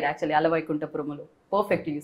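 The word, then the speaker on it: Ala Vaikunthapurramuloo: Ala Vaikuntha Paramalu.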